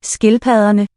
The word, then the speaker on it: Skildpadderne: Skildpadderne. Double D is the fricative.